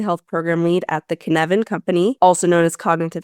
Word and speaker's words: Cynefin: Cynefin.